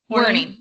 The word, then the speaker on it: Werning: I'll let you introduce yourself, so I don't butcher the last name. It's not that hard to say, but is it Werning? Werning.